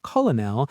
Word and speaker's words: colonel: The English heard the French saying Coronel with that R sound and we adopted that pronunciation. So for some reason we took the spelling from the Italians and the pronunciation from the French.